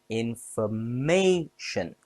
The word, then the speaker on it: information: Information has 4 syllables. Stress on may. Information.